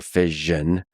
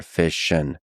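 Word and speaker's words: fission: PM Goodbeer on this, the preferred pronunciation of the latter in US is nuclear vision like vision and in the UK and other countries is nuclear fishision like mission. I prefer the nuclear fision pronunciation because America.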